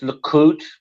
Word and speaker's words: Likud: oh, look, I think it's pronounced Likud Party.